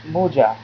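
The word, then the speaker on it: মোজা: Okay, socks is moja. It's moja. Often people call moja, so it's between moja, mo, or mu. Moja. Okay, this is how you pronounce moja.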